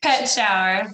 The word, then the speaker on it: Petschauer: Petschauer, like Petschauer. pet and shower.